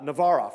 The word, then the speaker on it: Navarov: And Navarov, that's how you say it, Navarov.